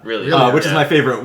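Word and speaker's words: R'lyeh: Well, I say Relia. Relia, which is yeah. my favorite way I've heard it pronounced. Relia. But it is a word that very intentionally has no correct pronunciation.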